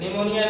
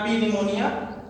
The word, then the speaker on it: pneumonia: Here निमोनिया, नॉट पी निमोनिया, पी silent here.